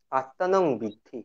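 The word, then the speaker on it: আত্মানং বিদ্ধি: এবং আসলে আ- আত্মানং বৃদ্ধি উচ্চারণটা। আ, অয়াকার তন্ময়াকার ন অনুস্বার। আত্মানং বৃদ্ধি, আত্মানং বৃদ্ধি হচ্ছে উপনিষদের একটা শব্দবন্ধ।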